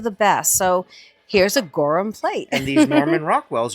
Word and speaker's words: Gorham: Recently, I found a piece of silver and I pronounced it Gorham and a wonderful subscriber taught me that no, the H is silent so it'd be Gorham.